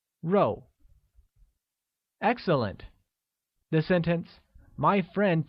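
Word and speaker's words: 肉: meat meat translates to row which is pronounced with a falling tone like row excellent the sentence my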